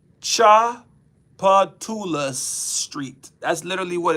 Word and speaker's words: Tchoupitoulas: Tchoupitoulas Street. That's literally what it's called. Tchoupitoulas. Why is that T in the front? That T is not necessary.